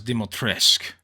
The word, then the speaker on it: Dimitrescu: out to say that lady dimitarescue also pronounce demotresque uh thank you Mommy